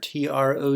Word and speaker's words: trough: thinking about ocean waves and remember this word TR ough is pronounced trough go figure on the English language